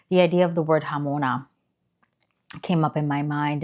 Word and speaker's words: jamona: Um, so today I really want to talk about the word hamona. And it's spelled J A M O N A.